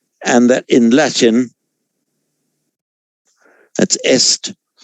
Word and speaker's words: est: And that in Latin, that's est. Same spelling in French, but pronounced e.